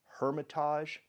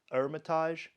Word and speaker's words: Hermitage: Hermitage and coat roti the French don't pronounce the h so we would see it as Hermitage but they call it Hermitage and coat Roti means